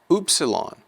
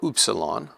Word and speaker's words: upsilon: Upsilon will be pronounced like the U in mule, U, mule, mule.